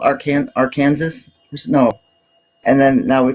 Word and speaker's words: Arkansas: Our Kansas.